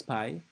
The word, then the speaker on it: Py: difficult to pronounce so just please call me pi like apple pie I was born in